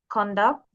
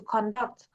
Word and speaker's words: conduct: So it's conduct conduct. For example, the teacher will conduct the test.